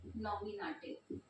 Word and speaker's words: Nominativ: नॉमिनेटिव spelling है NOMINATIVE, नॉमिनेटिव।